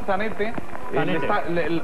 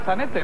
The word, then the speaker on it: Zanetti: error, Antonio, de pronunciación, porque siendo italiano como es Zanetti, estamos pronunciando como si fuera francés. Yo creo que vamos a rectificar a tiempo por si gana, y vamos a dejarlo en Zanetti, ¿no?